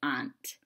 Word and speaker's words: aunt: dispenser and helium pants now i say the word aunt like your aunt and uncle i say aunt but if i were to pronounce it like aunt that would rhyme with pants so ants and pants should rhyme but i said it